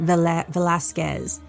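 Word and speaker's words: Velásquez: double check because, again, sometimes it could be a family thing that they pronounce it with the U, the squez. Sure. But I don't think, she may, but online said Velasquez.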